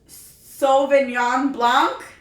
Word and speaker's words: Sauvignon Blanc: Not only has Jenny been laughing, but my husband as well, because I'm so bad at pronouncing things. But I believe it's a Sauvignon Blanc.